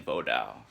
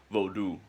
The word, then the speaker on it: Vodou: Like spirits, for instance, with the nature of Ugu Fairlie in Vodao, or it's pronounced Vodou, but I pronounce it Vodao.